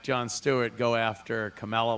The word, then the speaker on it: Kamala: She's trying to mispronounce her black name without being black. It's Kamala.